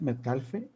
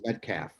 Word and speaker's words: Metcalfe: your last name Metcalf Metcalfe well my name has two silent letters in it the L and the last e are both silent so it's Metcalf Metcalf oh so they so